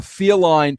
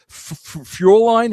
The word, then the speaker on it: Fräulein: And my teacher's name was a feline, Fräulein.